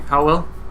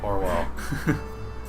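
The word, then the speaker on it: Owlan: Howell? Orwell. You're gonna pronounce his name wrong every single time.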